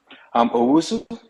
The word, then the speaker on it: Owusu: Last name is Owusu. O-W-O-W-U-S-U. Usu. Yes. How do you pronounce that? Owusu. Owusu?